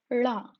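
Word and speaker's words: ళ: La is pronounced by touching the tongue to the roof of the mouth.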